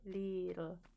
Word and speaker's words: Lidl: Pronunciation for German is like a long I. Lidl.